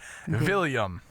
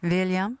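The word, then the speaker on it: Viljam: with a with a William yeah hey I love it and it's spelled with a J so so it's with the Scandinavian J and uh my wife's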